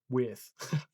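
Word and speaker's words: Wirth: I don't know how it's spelled really weird. It's W-I-R-T-H. Worth.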